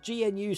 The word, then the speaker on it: GNU: What does GNU stand for? Graham Loki? It's a gnu. A GNU? What's it? That's how you pronounce it.